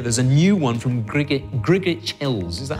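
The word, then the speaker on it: Grgich Hills: This year, there's a new one from Grigich Hills. Is that how it pronounced? Oh, Grigich Hills.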